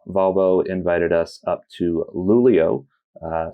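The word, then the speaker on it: Luleå: invited us up to lulio uh spelled l l ea uh but that is the way that you pronounce it up there in Sweden which is which is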